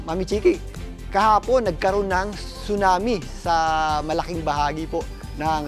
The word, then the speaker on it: tsunami: Ang tsunami po ay binibigkas ng tsunami. Silent po 'yan ha. Hindi po yan tsunami. Hindi po yan tsunami kundi tsunami.